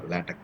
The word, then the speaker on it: LaTeX: once again repeat that not latex it's a lat or lat we can pronounce it